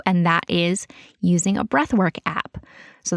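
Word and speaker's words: Breathwrk: that is using a breathwork app. So the app I use is called Breathwork, but work is spelled W-R-K, so no O.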